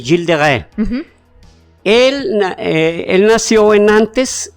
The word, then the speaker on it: Gilles de Rais: en el año 1403 se llamaba jills de re jills de re jills de re se escribe hilles de Ray hilles de Rise yo he visto que ris sí Bueno gills de Rise de Rise o gillis de Rise pero ese es jil de re él él nació en